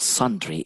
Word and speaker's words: sundry: number nine is sundry please do not pronounce it sundry we can talk about sun-dried-tomato gay but sundry is an adjective sun-dried